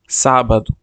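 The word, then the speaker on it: sábado: তারপর ইংরেজিতে এবং বাংলায় উচ্চারণ বাংলায় আমরা কিভাবে উচ্চারণ করব এটা দেয়া আছে এখানে তো চলুন শুরু করা যাক প্রথমে সাবাদু সাবাদু স্যাটারডে বা শনিবার তুমিঙ্গো তুমিঙ্গো সানডে রবিবার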